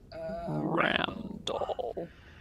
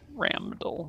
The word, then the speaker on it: Ramdall: Randall. Ark Randall. Ramdall with an M.